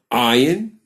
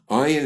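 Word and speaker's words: ayin: the word for I ayan has a numerical value of 70 we will pronounce it as if it's silent just like the hour but you should know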